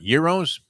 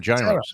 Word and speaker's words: gyro: Euros? I call them gyros. You say gyro, but it's euro. Yeah, the Greeks call it euro. The G, you don't say it's not a hard G.